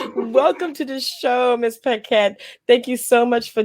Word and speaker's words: Paquette: It's Flori Ah, Paquette. I did it. Yay! Welcome to the show, Miss Paquette.